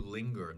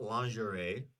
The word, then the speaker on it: linger: use this is uh to linger not lingerie right this word looks a little bit funny uh but to linger to be lingering there's this G uh right something that does